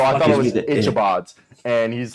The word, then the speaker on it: Ichabods: I said Ichabods. I said the Ichabods. He's like, I Ah. butchered that because I didn't know it was ick.